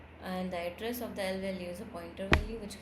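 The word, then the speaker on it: lvalue: In C++, any expression that refers to an internal memory location capable of storing data is called I value, pronounced as L value.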